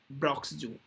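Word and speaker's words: Bronx: ये कहाँ पर है, ब्रॉक्स जू के अंदर है, हाँ बिल्कुल, एन साइलेंट है, BROX ब्रॉक्स जू है ये, न्यूयॉर्क के अंदर, has tested positive of corona virus.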